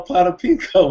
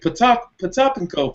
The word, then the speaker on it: Potapenko: Yeah, well, I used to call him Potapinko when I was little because I didn't know how to pronounce that. But when I had NBA Live, they would say Potapenko for the 3, Hey, Gonzo knows that's what